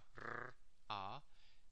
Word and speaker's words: Ra: This is the word Ra, R-A, and these silent glyphs telling you more information. But the pronounced parts are R and A, Ra.